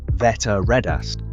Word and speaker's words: Þetta reddast: Pronounced roughly, "Þetta reddast."